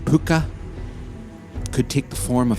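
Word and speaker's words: púca: Pucka, pronounced puka, could take the form of any animal and caused all sorts of mayhem for farmers milking cows or horse riders.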